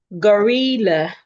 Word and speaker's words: gorilla: No, the first syllable is G. The second syllable is R. We should hear the R sound as in rat.